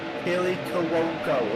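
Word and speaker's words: Kaley Cuoco: Kelly Cuoco is how you pronounce her name.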